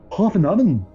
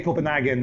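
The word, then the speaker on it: København: It was in Hovenhaven. Oh, very good. Hovenhaven. Copenhagen, Denmark. I remember in Hovenhaven. Is that how they pronounce it? Yes, they pronounce Hovenhaven. Hovenhaven. I didn't know that. Yes, we say Copenhagen, okay, but Hovenhaven.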